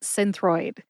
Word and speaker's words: Synthroid: on to Synthroid next Synthroid has two syllables sin like cinnamon and throid like thyroid without the Y throid put both syllables together and you get Synthroid I tend to emphasize the syllable sin but I couldn't exactly find a reference that indicates the syllable with the emphasis so see if you can hear any emphasis when I say it again Synthroid Synthroid see I think the emphasis is on sin my source for the